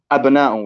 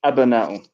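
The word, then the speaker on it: أبناءُ: So abna'u, as I previously mentioned, is pronounced abna'u with the fatha. Ah, okay, thanks for the clarification. I pronounced it wrong. Yes, so it's abna'u.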